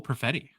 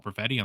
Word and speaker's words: Perfetti: The number 8 point producer, 21 and under, Troy, is Winnipeg Jets forward Cole Perfetti. His name rhymes with spaghetti, so maybe we could throw him into the pasta.